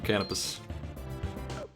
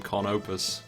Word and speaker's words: Canopus: I'm doing strength for canopus I guess you pronounced his name kopus but I ain't ever going to do that it's apparently a star